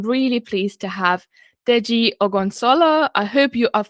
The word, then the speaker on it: Ogunsola: But today, I'm really pleased to have Deji Ogunsola. I hope I've pronounced your surname right.